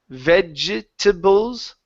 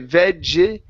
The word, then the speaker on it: vegetables: here so instead of vegetables okay the e the e here in the middle is not pronounced we don't say veggie it's vegetables vegetables vegetables good job good job